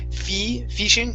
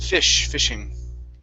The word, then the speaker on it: fishing: Okay, give me a short I instead of fishing. It's fishing. Fishing.